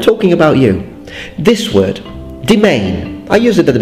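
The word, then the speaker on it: demesne: Why is it read domain? I had to look it up on the dictionary. I was like, how is this pronounced? Desmni, domain.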